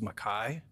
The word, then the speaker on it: Mackay: appears in Hansard, but the pronunciation of my last name is Mackay. Rhymes with pie as in apple or 22 over 7.